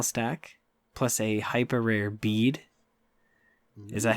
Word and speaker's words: Bev: Beady? Yes. Bead? Beady, Bed? Buddy. We're just going to call her Bev. I got a hyper rare Bev. Because the BE is silent. It actually sounds like a V.